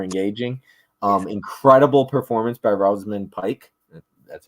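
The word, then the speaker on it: Rosamund Pike: this movie Super engaging um incredible performance by rosan Pike that's how you pronounce her name she is just pure evil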